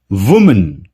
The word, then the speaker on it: women: ये एक वर्ड है जिसमें ओ का प्रोनाउंसिएशन ई होगा, विमेन।